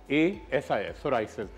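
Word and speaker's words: psoriasis: पी से शुरू होता है, इसकी स्पेलिंग है PSORIAS, सोराइसिस।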